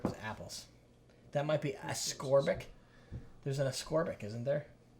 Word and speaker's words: ascorbic: Maybe there's no absorbic acid. Maybe it's abscorbic. Okay. I just always mispronounced it. It's ascorbic.